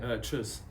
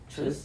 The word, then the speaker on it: Tschüss: Tschüss. Tschüss. Tschüss. Yeah. Tschüss. Yeah. Tschüss. Slam Nation in German would just be Slam Nation. Slam Nation. Okay. But in German, bye is Tschüss.